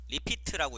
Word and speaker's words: REPT: 자, 두 번째로 리피트라고 있습니다. REPT라고 E, 발음하지 마시고요. 리피트, 되풀이한다, 반복한다 라는 뜻입니다.